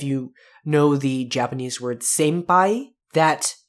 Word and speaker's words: senpai: stuff out in english it's usually pronounced more as an m sound so inai in p.o it's similar to what happens if you know the japanese word senpai that it's usually spelt